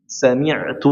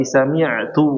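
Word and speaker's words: سمعت: An Abdullah bin Umar radhiyallahu anhu qala sami'tu Rasulullah sallallahu ini seperti ini. Enggak, sami tapi sami'tu Rasulullah.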